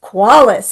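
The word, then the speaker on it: Qualles: Paris Qualace is here. I know how to say his last name because it sounds like quality and everything he does is.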